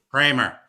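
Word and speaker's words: Cramer: So we're not going to mention names, but it rhymes with blamer, right? You've said that blamer is a financial charlatan. Blah blah blah blah blah. So what do you make of all that? Blamer. Kramer.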